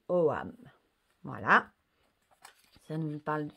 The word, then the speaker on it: ogam: Souvent, on entend OGAM, mais ça se dit OAM.